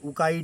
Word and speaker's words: Ukai: जो है उकाई डैम उकाई का प्रोनाउंसिएशन मैं बता दूं क्योंकि जो नए लोग हैं जिन्होंने पहली बार सुना है ना उनको नहीं पता है। यूकेएआई उकाई डैम ये मतलब सूरत के